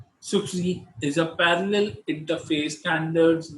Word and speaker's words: SCSI: small computer small interface now pronounced as SCSI sukh see there's a parallel interface